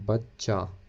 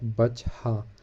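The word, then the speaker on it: بچہ: That's why this word we are pronouncing bachcha, not bachha, although the last letter is he, but we are pronouncing it a.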